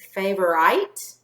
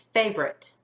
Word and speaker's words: favorite: So is it favorite or favorite? It's favorite, okay? This one does not follow the rule with the silent E making the vowel long, but we still broke